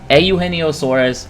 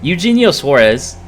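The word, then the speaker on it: Eugenio Suárez: Auheno Suarez. I'll say his name correctly this time. Okay. I do know how to say his name. I just don't like saying it. Um, Eugenio Suarez is batting since June 1st, 280.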